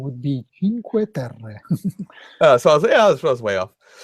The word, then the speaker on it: Cinque Terre: or at least the first one wrong, but Cinque Terre. Did I get that right? Kind of. All right. Correct pronunciation would be Cinque Terre.